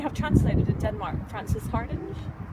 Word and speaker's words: Hardinge: I don't know if you have translated in Denmark, Frances Hardinge. I think it's Harding, actually. It's spelled Harding.